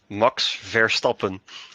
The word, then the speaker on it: Verstappen: It's always funny to hear people pronounce his name in an English tone.